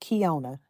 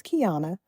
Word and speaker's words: Kiana: But in life that small those small corrections saying that hey my name is not pronounced Kiona. It's Kiana.